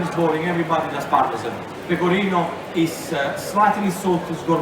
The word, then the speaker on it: pecorino: to score more character just be careful the way you pronounce pecorino thanks because that is important therefore everything safety reason the kirino is the cheese if you say people inna with an A at the end in Italian means talk style I'm telling